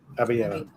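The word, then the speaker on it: Abelleira: Am I pronouncing that properly, by the way? Because Abellera. Abellera.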